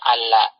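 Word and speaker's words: عَلَّ: Karena kadang lam pertama pada kalimat la'alla itu dihapus. Jadi nanti dibacanya alla.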